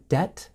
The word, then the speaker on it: debt: Remember, with the word debt, the B is silent. Debt.